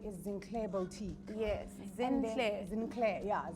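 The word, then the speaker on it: Zinclair: clay bow tea yes sinclair yeah let's spell it for them real quick because it's not rosenthal yes yeah it's z-i-n c-l-a-i-r yes oh girl yes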